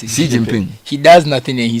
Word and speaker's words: Xi Jinping: Haven't seen the memes that Xi, how do you pronounce it? Xi Jinping.